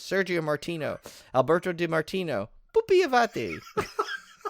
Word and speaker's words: Pupi Avati: Okay, rip-offs, including interviews with key filmmakers such as Sergio Martino, Alberto Di Martino, Pupi Avati. You have to say his name like that. It's like Pupi Avati.